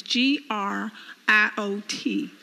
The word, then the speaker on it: griot: of west africa agrio let me spell it as g-r-i-o-t pronounced griot they were responsible for